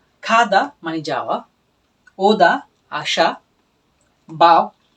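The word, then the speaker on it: 구: আর হচ্ছে খু মানে নয়। যেটা খুলে নয়। এটা হচ্ছে খু। এটা একটু আগে ঠিক আমরা যেটা বলেছিলাম গটা প্রথমে উচ্চারিত হলে খ এর মত উচ্চারণ হবে।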